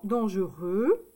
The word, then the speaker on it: dangereux: Donc c'est E, U, X. Le X, on ne l'entend pas. D'accord? Donc ici, par exemple, dangereux.